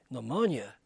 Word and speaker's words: pneumonia: P a long happy the doctor says the P is silent the old man says